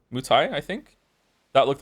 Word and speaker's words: Muay Thai: I'm most interested in is it called pronounced Muay Thai? Muay Thai, I think. That looked like the most interesting one to me. Mai Tai?